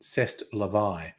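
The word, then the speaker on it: c'est la vie: I should say that like a French person CEST Levi the French get uh very upset if you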